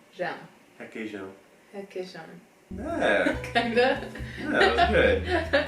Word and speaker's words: requeijão: The nasal sound is really hard for Americans because we don't have it.